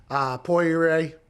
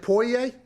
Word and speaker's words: Poirier: Poirier. I see how it's spelled. Yeah. Mm-hmm. How is it? Poirier?